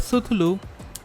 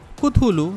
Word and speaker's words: Cthulhu: The first game they have included in the bundle is Call of Suthulou. Cthulhu, not Suthulou. I don't know why I'm actually pronouncing that name wrong. It is Cthulhu, Call of Cthulhu.